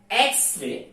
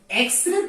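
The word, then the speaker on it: X-ray: এক্স রে, এক্স রে পূর্বে কি বসবে? উচ্চারণ করি এক্স, এক্স এ, এক্স, তার মানে কি এন বসবে।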